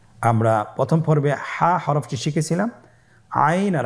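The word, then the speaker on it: عين: আইন হরফটি উচ্চারণের সময় অবশ্যই তিন আলিফ টেনে পড়তে হবে। এখন আইন হরফটি বারিক হরফ। পাতলা করে পড়তে হবে।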